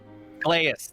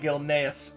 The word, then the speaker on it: Gilneas: It's very he's always impressed by the oh god, my brain can you pronounce it one more time? I'm so Gileas. sorry. Gileas, thank you. I've had 3 he's people call it Gilneas, so it's okay.